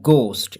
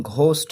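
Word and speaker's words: ghost: কেমন ওয়াজ ছিল দা গোস্ট এটার উচ্চারণ ঘোস্ট হবে না গোস্ট উচ্চারণ হবে এখানে এইচ টা সাইলেন্ট থাকবে ঠিক আছে গোস্ট মানে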